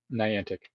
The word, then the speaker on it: Niantic: manic Bay Yacht Club Niantic how do you say it Niantic n i a n tantic okay so what is